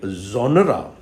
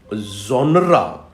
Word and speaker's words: genre: it sometimes you know very often people take it as one syllable which is wrong there are two syllables here we we pronounce it like genre genre genre genre so there